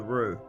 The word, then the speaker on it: roux: we're moving straight on to start on the roux. That's spelled R-O-U-X.